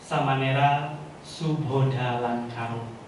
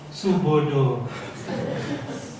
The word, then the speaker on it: Subodha Lankaro: Jadi ada yang bilang Subodo, ada yang bilang Subada. Memang agak cukup sulit diucapkan nama Samanera.